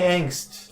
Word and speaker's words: angst: know angst but but I've heard an I've heard people pronounce it with an H now if they're Scholars it's because they've been reading their entire lives and they never listen to people talk and they don't know how it's pronounced I can dig it